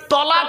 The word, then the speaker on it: তালাক: অনেকে ভয়ে দিয়ে উচ্চারণ যদি বউ চলে যায় কি বলে তালাক বাবা শব্দটা তালাক নয় শুনে নিন আজকে তালাক